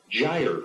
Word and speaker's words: gyre: It was Gyre. There you go. Upgyre. That's the correct pronunciation.